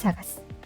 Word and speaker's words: CSIDH: Now, replacing the unfortunate SIDH, let's discuss a somewhat safer protocol called CSIDH, pronounced 'seaside.'